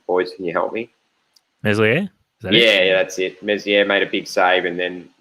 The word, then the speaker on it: Meslier: had a massive chance, and I can never pronounce the Leeds goalkeeper's name. Boys, can you help me? Meslier?